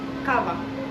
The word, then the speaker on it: kawa: Kawa.